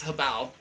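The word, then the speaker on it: Hobao: Habao, whoever, you know, however you want to pronounce it, it's Habao, just so you know.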